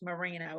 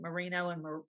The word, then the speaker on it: merino: i think it's pronounced moreno i have friends that pronounce it mourinho and morino but i think it's mourinho's sheep he was selling